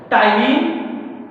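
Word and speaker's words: ptyalin: यहां हम आपको बता सकते हैं टाइलिन और लाइसोजाइम्स, ये दो एंजाइम्स जो हैं, यहाँ पी कभी कभी साइलेंट भी होता है।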